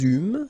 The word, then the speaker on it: eûmes: Then, nous eûmes, so you can make this little link between the two. Final S not pronounced.